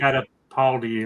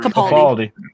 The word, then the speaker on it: Capaldi: with Baker and the I can always pronounce this. It's a holiday special, Peter right? Catapaldi or whatever. Capaldi.